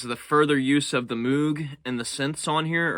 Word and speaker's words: Moog: further use of the Moog and the synths on here, or Moog. I think Moog is how you pronounce it.